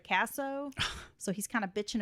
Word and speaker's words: Kasso: news report in which they uh pronounced his name queso instead of casso so he's kind of